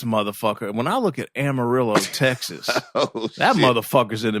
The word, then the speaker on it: Amarillo: Is Amarillo shitty like that? Let's just say it's not culturally diverse. Damn, you would think a town that kind of rhymes with armadillo would be all right.